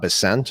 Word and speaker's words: Bessent: the statement from Trump's new Treasury Secretary, Scott Bessent. I believe that's how you pronounce his name.